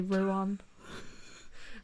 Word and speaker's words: Rouen: I was going to say Rouen. It is Rouen. That's how we say it. Rouen.